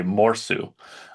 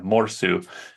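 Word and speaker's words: mursu: So the Finnish pronunciation, which I'm not good with my Finnish, but I believe it would be morsu. Anders could probably correct me if I'm wrong there, but yeah, morsu is a walrus in Finnish.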